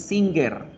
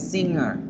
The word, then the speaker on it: singer: Cantante no es singer, la G no existe en ese sonido. Cantante es singer, singer, singer.